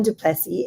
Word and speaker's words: Duplessis: So for this part of the discussion, I invited Duplessis, and I have to say her name in French because she's actually from New Orleans.